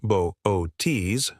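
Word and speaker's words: Boötes: If you thought space was empty, you haven't met the Botas, pronounced Bo-O-Ts, void.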